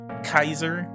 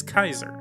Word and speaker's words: Caesar: or kaiser the letter c is always hard in latin so like a k the a e diphthong